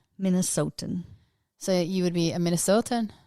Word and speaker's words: Minnesotan: Wait, is it a Minnesotan Minnesotan? Yes. or Minnesotian? Minnesotan.